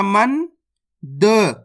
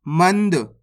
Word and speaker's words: मंद: माम अनुस्वार की मात्रा मन द मंद मनद नहीं पढ़ना मंद इस तरीके से पढ़ना है झ अनुस्वार की